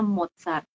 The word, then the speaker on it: Mozart: silon dan terakhir z jadi kalau kita mau nyebutin Mozart itu jadinya modsar kemudian kalau kita nyebutin